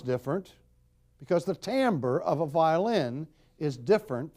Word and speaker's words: timbre: How about timbre? It's pronounced completely different from what you think it would be pronounced.